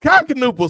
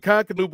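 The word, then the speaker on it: Knueppel: Like and with the K and the N together you still pronounce the K.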